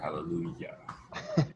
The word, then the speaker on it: hallelujah: hallelujah glide or whatever and we do use j as a y for hallelujah in american english okay so we're almost